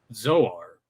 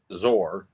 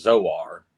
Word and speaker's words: Zoar: And yeah, much like Tyler said, though, He-Man says Zoar in the episode.